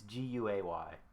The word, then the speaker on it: Guay: Is it Guy or Gay? Do you know? It's Guay.